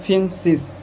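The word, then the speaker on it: fünfzig: हैं फियरसिस फियरसिस ठीक 50 को बोलते हैं फिमसिस फिमसिस 60 को बोलते हैं हम लोग जेसिस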